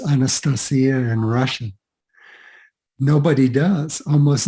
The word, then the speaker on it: Anastasia: or vladimir wright either but anastasia um rhymes with maria um and and that's how the russians pronounce it and of course